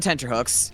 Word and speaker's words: tenterhooks: It's spelled how it sounds. Don't be obtuse. Tent-er-hooks. Oh, T-E-N-T. I was hearing D, like tender. Hooks.